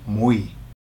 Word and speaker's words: muy: Okay, and the word for very is muy. Muy. Now, how you pronounce it? It sounds very much like M-W-E-E. Muy. That's pretty much how you say it, okay?